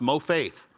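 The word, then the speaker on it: מופת: The Hebrew word for miracle is pronounced mo-faith.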